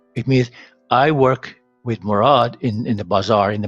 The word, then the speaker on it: Murad: Murad. M, O, R, A, D. Okay, me connector, connective, R non-connective, non-connective, non-connective, and that is pronounced O. Murad.